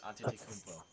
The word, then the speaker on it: Antetokounmpo: Tries saying Giannis Antetokounmpo.